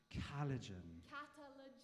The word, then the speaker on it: Katalogen: So how do you pronounce the name again? Catalogen.